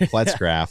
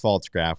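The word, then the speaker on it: Pfaltzgraf: We found out we were saying your name wrong all year. It's not Pletzgraf, so I'm sorry. It was Faltzgraf, we were told, as you told Nick at the game.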